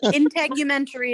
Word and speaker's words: integumentary: I never know how to pronounce it either. You said it. Call it skin or epidermis. Integumentary is correct.